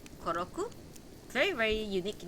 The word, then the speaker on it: Koroku: is Kos Kos Kos oh wait did I say it wrong um he's young a sorry his younger brother is koroku yes we have to